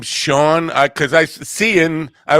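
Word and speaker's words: Siobhan: like how how do you pronounce her I've been following her for a while I did not know how to pronounce her name I guess it's the Irish her she's got of Irish descent but she lives in a she's from Australia but yeah Sean s i an SM YT she's uh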